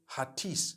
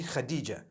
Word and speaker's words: Khadija: In Turkish, some people spell it H-A-T-I-C-E. I would say Hatis for that. No, it's actually Khadija.